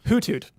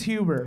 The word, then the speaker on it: Hoothoot: Hoothoot. Really? Yeah. Wow. It's almost always Huber. That is not how you pronounce it.